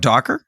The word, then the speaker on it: Docker: that's involved in it are you talking about Docker yeah how do you spell that d o c k e and say it again Docker yeah it's I didn't say it right first